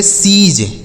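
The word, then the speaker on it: siege: एस आई ई जी ई इसे पढ़ेंगे सीज।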